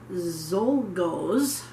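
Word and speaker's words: Czolgosz: by a man by the name of leon zolgos i believe his last name is spelled c z o l g o s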